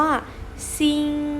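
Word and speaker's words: 星: นั้น เอง นะ คะ ดาว ภาษา จีน ออก เสียง ว่า สิ่ง มี สิ่ง ซี อินซิง ออก เสียง ว่า ซิง นะ คะ อ่า นัก เรียน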